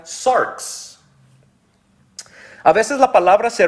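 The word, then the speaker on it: σάρξ: o todo su ser hay una palabra en griego que se pronuncia sarks a veces la palabra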